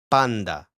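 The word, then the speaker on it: πάντα: So basically the articulate form that's re recommended by the book that is prescribed by the book is panda with a with a very very clear n kind of similar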